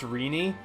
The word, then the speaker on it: Renee: she was like um excuse me it's pronounced Rini thank you and to this day I always think back to that and I'm like Rini I've never heard it pronounced like that but just this one